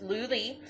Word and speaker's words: Lou Lee: She PM'd me and told me how to say it right, because I kept saying, I don't know which way to pronounce it, so I put it in my notes. So it's Lou Lee, and her shop is